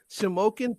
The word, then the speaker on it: Shamokin: The information that I got, you're from Shamokin. That's how you pronounce it? You pronounced it correctly. Holy hell. Holy shit. Shamokin, Pennsylvania.